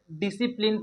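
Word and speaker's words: discipline: तो डिसिप्लिन में यहाँ पे सी साइलेंट है दोस्तों। इसे हम लोग डिसिप्लिन पढ़ेंगे, DISIPLIN, डिसिप्लिन, क्योंकि सी साइलेंट है।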